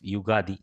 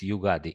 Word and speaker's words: Yugadi: So this shloka is to be recited when eating a mixture of neem and jaggery on the day of Yugadi.